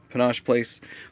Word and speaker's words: Panosh Place: Next thing I want to talk about is the Panosh Place, and I've heard it pronounced a few different things, but I pronounce it Panosh Place Voltron.